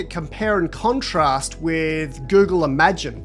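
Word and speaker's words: Imagen: Google Parti is almost like a compare and contrast with Google Imagine, thanks to Dr. William Chan and the team at Google Research for confirming with me the pronunciation of that, we got it right.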